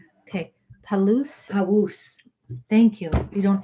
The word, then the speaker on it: Palouse: quote is from wolf neckla necklace who's a palus okay palooz thank you you don't say the l like